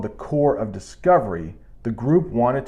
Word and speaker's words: Corps: area often called the Corps yes I know that's not how it looks but I promised that P is silent often called the Corps of Discovery the group